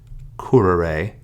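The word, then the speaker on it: currere: However, in third conjugation, we have no accent mark there, so instead the words are pronounced agere, curere, and legere.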